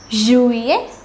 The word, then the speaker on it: juillet: May, juin, juillet, août.